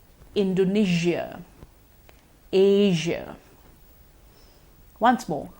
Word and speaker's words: Asia: because we've been using the share so far Asia Malaysia Indonesia but the correct pronunciation is actually with the usual sound Malaysia Indonesia Asia once more Malaysia Indonesia Asia you may have heard the advertisement Malaysia truly